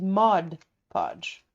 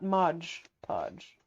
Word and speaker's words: Mod Podge: are you ready okay it is Mod Podge yeah not Modge Podge you're not even remotely